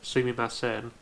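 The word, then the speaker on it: すみません: And although it's correctly pronounced Sumimasen, one thing you ought to look out for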